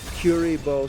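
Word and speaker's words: Kuriboh: down with linkurbo first of all Joe it's pronounced curibo second of all why would you attack my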